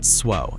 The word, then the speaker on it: SWO: Pronounced SWO, it's not the coolest acronym in the Navy, and honestly, the naval aviation guys won't let you forget it, but whatever.